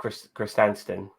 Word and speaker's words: Krrsantan: Black Krrsantan.